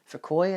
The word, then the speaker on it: Fukui: Fukui, I believe it's pronounced.